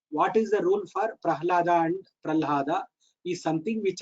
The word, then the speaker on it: Prahlada: So, when you have to come to, if you have to pronounce Pral, you have to come to the Danta and then go back to the Kantha for Ha. Whereas, if you pronounce Ha first, you can, that Ha can come from there only, Prahlada. So, quickly you can pronounce Prahlada if Ha is first pronounced.